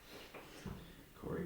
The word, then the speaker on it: Corey: 33 Corey your name it rhymes with Corey gory Corey I use the